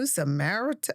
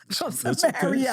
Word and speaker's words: Samaria: You know, they're like, "Are you going to Samarit?" That's right. And you're talking to this woman and he went to her. They're from Samar, right? Samaritan. Samaria. Samaria. I knew I said it wrong. Samaria.